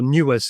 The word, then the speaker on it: NeWS: And I think of all the technologies that were around at that time, Sun had a technology called News, or Newes as they pronounced it, which was a graphical display system written in PostScript.